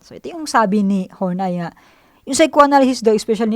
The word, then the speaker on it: Horney: Karen Horney, pronounced Horney, was born in Hamburg, Germany on September 1885.